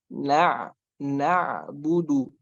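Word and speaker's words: نعبد: Harus ada jedanya sedikit, harus ada waktunya sedikit sebelum pindah ke bu itu. Na'budu.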